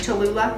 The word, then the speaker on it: Cholula: teaspoon of cumin and i love cholula cholula is how you say it cholula i'm just